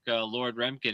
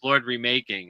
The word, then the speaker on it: Lord Remaking: So check Lord Remkin out. Hmm. Actually, it's Lord Remaking. I should say it's Lord Remaking. That's how it's pronounced because he's remaking.